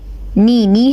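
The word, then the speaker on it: knee: फिर इसके बाद है नी help us to bend the legs, इसे नी कहते हैं।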